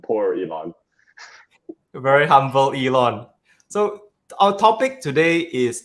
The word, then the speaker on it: Yilun: n but the pronunciations Elon like Elon Musk so Elon thank you